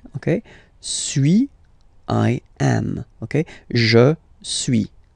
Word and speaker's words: suis: Okay, so first one, sui, as you've been noticing, you don't pronounce the final S, okay?